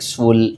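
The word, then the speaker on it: Seoul: What is the capital of साउथ Korea, ये इसको pronounce करेंगे लाइक सूल, ठीक है।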